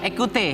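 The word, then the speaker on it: Ecoutez: Ekute. Iya. Bacanya ekute apa ekutes? Ekute.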